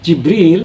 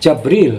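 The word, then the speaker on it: جبريل: Barang siapa yang menjadi musuh Allah, malaikat-malaikat Allah dan rasul-rasul Allah dan Jibril, ada yang membacanya Jibril, ada pula yang membaca Jabril atau Jabroil, dan Mikail diatof atau dihubungkan kepada malaikat dari jenis mengatofkan yang khas kepada yang umum.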